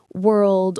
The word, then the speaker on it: world: It's tricky because of that and sound together.